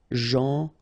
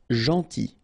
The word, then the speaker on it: gentil: Gentil. So it's a strange one because here this final L is not pronounced. Okay? Gentil. Gentil.